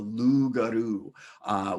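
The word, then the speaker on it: loup-garou: them was this voracious cursed creature called the lugaru which is spelled loop guru and is this creature that's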